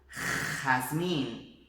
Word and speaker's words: jazmín: Então tanto la Re como la Rota é esse som aqui de garganta arranhando a garganta, tá? Então vamos lá, olha só, observa esse som. Gente, gitano, jamón, jazmín, ok?